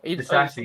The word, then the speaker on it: Disasi: Disasi, was that how you pronounce him? He's been okay. Disasi, yeah.